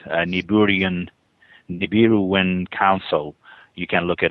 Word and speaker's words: Nibiru: Yeah, the pronunciation that I'm used to is Nibiru, with the B first instead of the R.